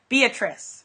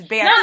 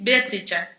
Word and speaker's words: Beatrice: right, because in America we just say Beatrice, right? But in Italy, it's Beatrice. No, but it's very nice. My name is Beatrice. Beatrice. Okay. Oh, wonderful. But, I mean, I love the American pronunciation.